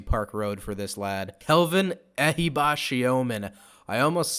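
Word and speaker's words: Kelvin Ehibhatiomhan: Kelvin Ehibashiomen. I almost said it the wrong way, but I've been working on this pronunciation.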